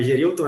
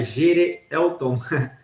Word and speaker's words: Gerelton: Não é Gerilton, é Gerelton. É um nome um tanto complicado, né?